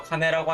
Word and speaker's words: 金: 단독으로 카네라고 하면은 돈을 의미하고요.